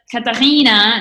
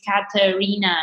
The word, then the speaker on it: Catarina: because of my name catalina that's german right yeah that's why that's how germans pronounce my name but my name is katarina so it's more subtle so r i n